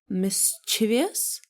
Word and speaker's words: mischievous: How do you pronounce it? Mischievous?